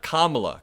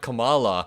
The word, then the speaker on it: Kamala: does not do but when you pronounce her name correctly it creates a rhythmic first syllable think about it comrade kamla comrade Kamala versus the way Donald Trump says it comrade Kamala it doesn't quite make